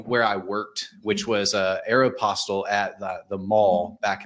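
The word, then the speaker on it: Aéropostale: my way to where I worked which was Aeropostel at the the mall back in the day. Aeropastel.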